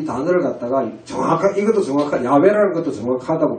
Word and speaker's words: 야훼: 지금 여러분 우리 한글 성경에도 여호와로 번역되는데 이걸 뜯어보시라고 그만큼 해도 안 뜯어보시네요. 사실 야훼입니다. 야훼. 여호와라고 발음하면 이건 잘못됐다고 지금 우리 학교에 다 판정이 났는데 아직도 저걸 잘하고 있는 거예요.